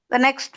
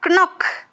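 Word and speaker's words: knock: next one நாக் நாட் கனக் அப்படி வாசி பாருங்க அப்படிதான்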